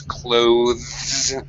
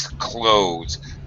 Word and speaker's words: clothes: technically the pronunciation wise technically the pronunciation is clothes with the the voiced th sound but it is perfectly acceptable to use the reduced pronunciation most English speakers do and that uh and that is clothes so clothes sounds sounds exactly like the verb close the door close it's perfectly okay to